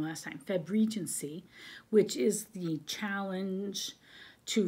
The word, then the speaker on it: Febregency: febregency i was saying it wrong last time febregency which is the challenge to read uh regency